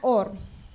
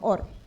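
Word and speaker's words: אור: Y ya luego ahí yo empecé a buscar en hebreo qué qué cómo se pronunciaba la palabra en hebreo, luz. Pues era or, así mismo, or.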